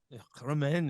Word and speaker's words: Romain: You're very, very French, I've got to say. Ooh la la la la. Yeah. Romain, and a bit of the throat in there and everything.